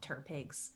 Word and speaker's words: TTRPG: We call them Turpigs. That was my first Turpig. Yep. Turpig. Turpig. I like to Yes.